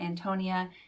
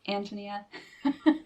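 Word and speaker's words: Ántonia: well you can see it has the accent on the the first syllable so it's not antonia and it's not antonia it's antonia which is really hard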